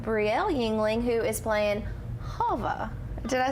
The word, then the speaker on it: Hava: now we have Brielle Yingling, who is playing Hava.